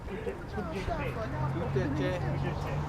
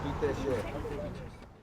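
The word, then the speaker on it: ཐུགས་རྗེ་ཆེ: Tout est cher. Tout est cher.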